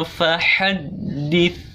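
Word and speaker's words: فَحَدِّثْ: Mungkin anak-anak cara bacanya wa amma bi ni'mati rabbika fahaddits.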